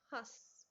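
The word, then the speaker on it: हँस: अब यहाँ पर हंस जो है उसकी आवाज, जो उसका उच्चारण नाक और मुंह दोनों से हुआ है, तो यहाँ हंस, इसमें हमारा लगा है अनुस्वार, और यहाँ है हस, हस में हमारा आया है अनुनासिक यानी चंद्र बिंदु।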